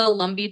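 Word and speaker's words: Lumbee: That's the Lumbi tribe and you've got the pronunciation right?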